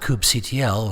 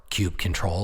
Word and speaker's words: kubectl: things to set up coupe ctl or cubecontrol or however you want to pronounce it we'll need a